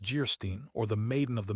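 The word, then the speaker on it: Geierstein: Anne of Jerstein pronounced Gerstein or the maiden of the mist by the author of Waverly.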